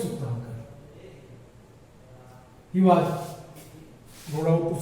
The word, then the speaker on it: Sukhtankar: वी.एस. S-U-K-T-H-A-N. सुखतांकर K-A-R. V.S. Sukhtankar.